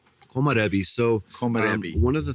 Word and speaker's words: Komorebi: Am I pronouncing the vineyard wrong? Komarebi.